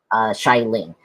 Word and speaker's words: Xialing: Xialing. It's Xial. Yep. And Ing. Xiling. It's tough.